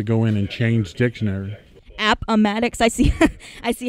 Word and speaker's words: Appomattox: Appomattox. I see. I see how you guys can edit these different pronunciations.